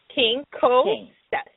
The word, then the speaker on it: Quincoces: but it means like if you want it phonetically like king okay King Cole step okay Oh